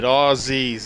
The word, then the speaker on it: Aussies: And just point out too, when you say Aussies, it's like a Z, Aussies, okay?